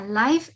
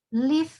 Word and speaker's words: live: Y la pronunciación de dos palabras, idea y live. Sí, no sería life, life es vida, live, que sería vivir, ¿no?